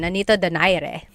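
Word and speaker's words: Nonito Donaire: So our first poll here is going to be Manni Pacquiao versus Nonito Daire or is in in the Tagalog uh pronunciation. Nanito Dire.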